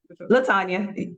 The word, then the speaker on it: Latonia: Latanya. Latanya. Okay, just make sure I'm pronouncing it correct.